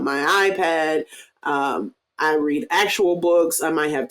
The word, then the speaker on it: Boox: I think it's pronounced books, honestly.